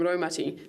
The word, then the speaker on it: raumati: The ro from raumati sounds like rowing a boat.